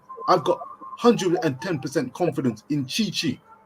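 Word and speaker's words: Tite: got 110 confidence in chi-chi t-i-t-e pronounced chi-chi the brazilian manager to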